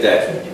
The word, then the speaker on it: debt: But like other words, sometimes the B, in this case, is kind of dropped. Pay the debt. Like D-E-T. But it's spelled D-E-B-T.